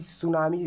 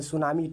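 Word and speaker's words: tsunami: cyclone बोलता है और सुनामी को इंग्लिश में टी सुनामी नहीं पढ़ा जाता सुनामी टी आगे साइलेंट रहता है तो महासागर में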